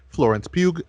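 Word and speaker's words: Florence Pugh: Otto who's played by Florence puke please that's how you pronounce her name and she is going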